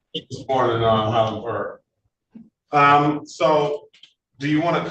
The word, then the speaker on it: Highland Park: I pronounce it as it's pronounced in the dictionary. Silent H. Born in Highland Park.